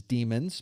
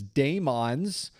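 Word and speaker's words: daemon: that run in Linux, I refer to those as demons because that's what they are. Some people refer to them as dons because they are pronouncing it the way that it is spelled with that old English form of spelling demon. As it turns out, both are fine.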